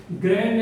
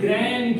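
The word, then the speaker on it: grand: बाद माई ग्रैंड mother, ग्रैंड नहीं ग्रैंड, क्योंकि इसमें डी क्या होता है विद्यार्थियों? साइलेंट होता है।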